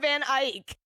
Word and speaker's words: Eyck: Jan van Eyck. No, it says His Neck. neck. Spelled. I mean, if that's pronounced Ike, then I really am.